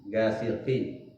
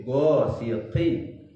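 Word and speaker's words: غَاسِقٍ: Kemudian go ya, itu huruf al-isti'la juga itu harus tebal sehingga bacanya go, bukan ga. Gasikin, gasiqin, tapi go siqin. Ya.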